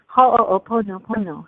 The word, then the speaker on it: Ho'oponopono: But Ho'oponopono, how's that?